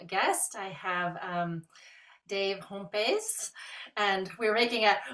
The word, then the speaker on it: Hompes: because I was like Dave how do you say your last name and he was like it's dutch he was like but just say it like I'm Latin so there so there